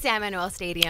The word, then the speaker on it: San Manuel: It's San Manuel Stadium.